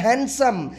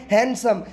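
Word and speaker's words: handsome: अंदर जो है वो ब्रिटिश और अमेरिकन दोनों जो है वो डी को साइलेंट कर देते हैं और ये जब पढ़ने में जो है ना वो डी साइलेंट हो जाता है और ये बोला जाता है हैंडसम।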